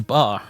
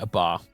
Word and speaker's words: BAR: The bar reminded me of it. Sorry, B-A-R. I always called it a bar, because that's how it's spelled.